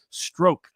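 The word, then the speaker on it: Strzok: say that's p apparently i'm told that the pronunciation is stroke uh i it's spelled like but i got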